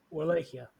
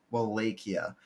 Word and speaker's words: Wallachia: Tell me one more time how to pronounce the nation's name. Wallachia. Wallachia.